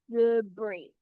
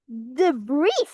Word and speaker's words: debris: Debris. I'm highlighting it up. And also you think, wow, you pronounced it wrong, MGS. It's pronounced debris. Nope. In this word, the S is silent.